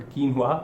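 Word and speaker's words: quinoa: amaranth को हम compare करने वाले हैं किनोआ से, सॉरी किनोआ नहीं, कीनवा इसका सही प्रोनाउंसिएशन है, क्योंकि यदि ये मैंने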